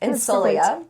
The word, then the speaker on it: Insolia: Insolia.